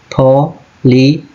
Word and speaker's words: polygamy: Polygamy. There are 4 syllables. And the stress fall on the second syllable.